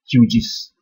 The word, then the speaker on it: QGIS: Just in case if you don't know, QuantumGIS is also called QGIS, popularly pronounced as QGIS.